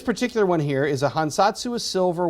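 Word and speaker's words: 藩札: This is called a hansatsu. According to my Japanese friends, I am pronouncing that relatively close to accurately. So it's a hansatsu is the way we pronounce this.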